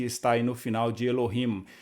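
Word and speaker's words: אֱלֹהִים: Então a palavra Elohim, de acordo com essa regrinha aqui didática, ficaria Elohim. 3 sílabas. Então, uma meia sílaba, por assim dizer, debaixo do Aleph, o Hatef Segol, o Lamed e o Holem, mais uma sílaba aberta e, por fim, uma sílaba fechada, terminando com Him, Elohim.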